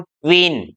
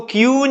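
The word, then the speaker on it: queen: उदाहरण से हम समझते हैं, तो देखिए इसको बोलेंगे हम क्वीन। इसको क्यून नहीं बोलेंगे, इसको बोलेंगे क्वीन, क्योंकि क्व की साउंड, क्यू की साउंड है क्व और क्व, तो इसको बोलेंगे हम क्वीन।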